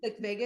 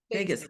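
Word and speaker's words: vagus: Vegas. Vegas. Vegas. Yep. It's not spelled like Las Vegas.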